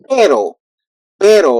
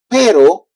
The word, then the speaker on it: pero: So in this case, if you won't put the two R, that would be like pero, like better, pero, and that means but in when you translate. Pero means but perro means dog.